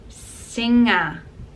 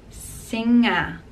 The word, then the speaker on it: singer: And we use it, for example, in singer, singer. So we don't pronounce the G, and it's combination of N and G together, and we pronounce it singer, singer.